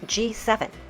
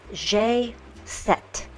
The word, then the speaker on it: G7: to call them and the way that you pronounce this in French is not G7 it's jet jet now you may be